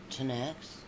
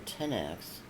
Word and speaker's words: Tanakh: The Hebrew Bible, or Tanakh, pronounced Tanax, or Tenax, is the canonical collection of Hebrew scriptures, including the Torah.